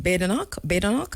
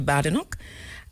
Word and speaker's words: Badenoch: All right, how did Andrew say I should pronounce her name? Badenoch, as opposed to Badenoch.